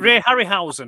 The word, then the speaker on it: Harryhausen: But I loved like the Harry, how do you pronounce his surname? The Harryhausen, whatever it is, the Ray Harryhausen.